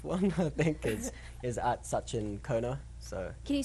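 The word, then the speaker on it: Sachin Khona: And yeah, my Twitter handle is that the 4th one I think is at Sachin Kona. So Can you spell that out?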